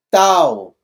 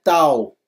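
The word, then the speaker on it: ταῦ: falei no no teta o teta é TH o tal é um t puro olha aqui vamos lá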